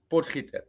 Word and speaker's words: Potgieter: And how do I pronounce the last name? Potgieter.